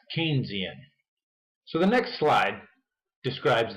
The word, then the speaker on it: Keynesian: a pop tart apparently the kinesian theory is not a theory at all one of my colleagues just told me that it's actually pronounced keynesian so the next slide